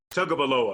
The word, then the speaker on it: Tagovailoa: It's 2020, and if Tua Tagovailoa, did I say it right? Tagovailoa.